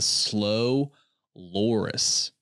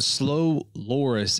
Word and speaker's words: slow loris: least intelligent mammal is the slow loris, which I think is how you pronounce it.